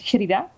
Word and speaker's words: Sherida: Well, my name is, officially it's Sherida. Aha. Ha, so that's how you say it.